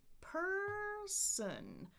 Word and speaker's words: person: I've got 2 syllables, but this time the stress is on the first syllable. So it's da-da, person.